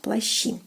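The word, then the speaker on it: плащи: we get plus she here the stress falls again on the last syllable and we get plushie so let us overuse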